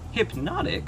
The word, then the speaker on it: Hpnotiq: take a closer look hypnotic which is pronounced normally but spelled very strangely is a kind of